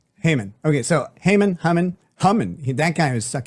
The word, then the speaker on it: Haman: in English you pronounce it Haman. Haman.